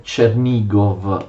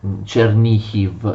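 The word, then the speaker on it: Чернігів: o Kiev, Pereyaslav e Chernigov o Chernihiv secondo la pronuncia ucraina, tutti territori che appunto io vi ho già citato.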